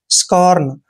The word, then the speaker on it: scorn: एस का उच्चारण शे करना है और जब भी सी के बाद ओ आता है तो सी का उच्चारण कै करते हैं और ओ को ओ की मात्रा पढ़ते हैं। आर को रे पढ़ना है और एन को ने। आर यहाँ पे लगाएंगे।